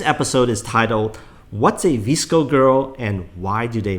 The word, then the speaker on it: VSCO: myself to know better what is a visco girl and am I even pronouncing that correctly you are pronouncing it correctly congratulations so a visco girl